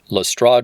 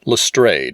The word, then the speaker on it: Lestrade: Lestrade would be closest to the French pronunciation where the name originated, though Arthur Conan Doyle preferred the pronunciation Lestrade with a long A sound, which was used in the Jeremy Brett television series.